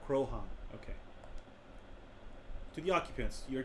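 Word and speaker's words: Croaghaun: is named after it pronunciation krohn krohn okay to the occupants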